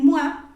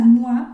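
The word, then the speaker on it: moi: el pronombre el pronombre mua okay Este ya yo sé que se pronuncia o sea mua porque tiene una o y una I y no lo voy a pronunciar mu okay Que si es difícil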